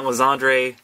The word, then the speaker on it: Lysandre: Pidgey, Litleo, Sneasel, Seedot, Flabébé, Celio, Lysander, and Roserade, or however you want to pronounce that, Lysandre. I say Lysander.